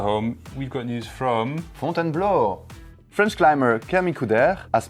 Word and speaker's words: Fontainebleau: So on the great debate of pronunciations, we now have a, albeit Belgian French speaker, to give us a proper version of how you should say the word Fontainebleau? Whereas before I was saying Fontainebleau, it actually is...